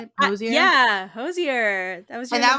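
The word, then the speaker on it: Hozier: Yeah, Hosier.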